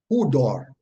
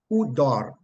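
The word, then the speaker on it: ὕδωρ: It's just the same word, and it is pronounced hudor, hudor, hudor, with a little roll on the R, hudor, hudor, meaning water, as if raining, literally or figuratively, water.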